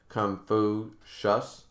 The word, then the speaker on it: Confucius: to say his name just say like it would say confusion but replace the on with us confucius confucius confucius confucius i'm